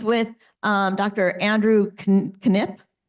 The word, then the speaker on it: Knipp: Andrew Knipp. I learned that he pronounces the K.